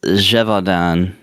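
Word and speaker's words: Gévaudan: I think it's Jeevodan is how they pronounce it in the game. Jeevon. I don't even think I could say that if I practiced. Well, pron uh practice your French J's okay.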